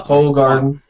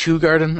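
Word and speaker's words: Hoegaarden: Shock Top good stuff Stella ho Garden it's pronounced who Garden actually yeah but I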